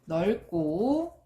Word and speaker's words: 넓고: 단어의 끝이나 자음 앞에서 리을로 발음된다고 했죠. 그럼 얘는 올바른 발음이 떨지는, 그 다음에 넓고, 짧구나가 되겠죠.